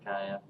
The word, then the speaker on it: Gaia: Gaia. I don't know if I pronounced it right or whatever. That's right, Gaia.